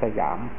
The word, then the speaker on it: สยาม: ของ ชื่อ ว่า ประเทศ สยาม ภาษา สันสกฤต ว่า สยำ บาลี ว่า สยัง พอ ออก เสียง เป็น ไทย ว่า สยาม เรา จะ เห็น จารึก